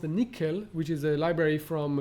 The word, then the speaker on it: NCCL: communication libraries like nccl which is pronounced nickel which is a library